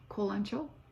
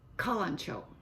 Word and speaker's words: Kalanchoe: itsy bitsy plant, a Kalanchoe. Kalanchoe or Kalanchoe. British pronunciation, American pronunciation. I looked it up because I didn't know how to pronounce that name. I had never pronounced it. Kalanchoe.